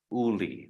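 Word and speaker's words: Iuli: I was talking about it's spelled i-u-l-i Uli the eye is silent but it's i-u-l-i Heather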